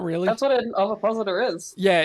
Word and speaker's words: ovipositor: Ovipositor? I know the word, I just don't know how it's pronounced.